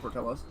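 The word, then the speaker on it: Portillo's: Like a portillos probably sounds like feels like the word, but no, it's actually just called portillos.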